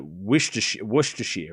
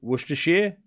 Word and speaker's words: Worcestershire: Can I pronounce Worcestershire? I know it's not Worcester. It's like Worcestershire, right? Worcestershire?